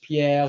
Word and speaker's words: Pierre: for it we've got Pierre that's how you say his name in French Pierre p as I call